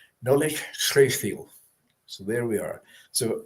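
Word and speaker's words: Nollaig Chridheil: Well, the spelling is very different to the actual pronunciation. And forgive me, Gaelic speakers on here tonight, if I have not got it right. But it should be Nolig Chreithil.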